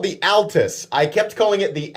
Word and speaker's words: Altus: they were correcting that i was saying atlas and not at last and i was like whatever you know and i made my whole pronunciation joke no i was really mispronouncing it it is altus oh my gosh that's